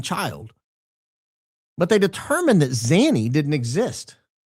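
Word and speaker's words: Zanny: She told police that Zany, the nanny, Zany rhymes with nanny, uh that Zany had kidnapped Kaye all the way back on June 9th.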